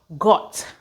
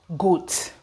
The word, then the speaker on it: got: It is got, got, got, and not goat, goat.